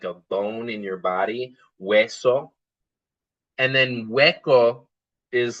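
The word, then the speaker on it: hueso: Wesso. And then Wo is like a tiny little gap or a hole. Again, this is not a vocab screen. It's just to emphasize that the H is silent.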